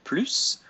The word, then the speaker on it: plus: Un plus. One of the rare S's we pronounce at the end of French words.